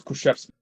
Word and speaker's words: Kruszewski: It's Kruszewski. It's Kruszewski. Literally just how you would.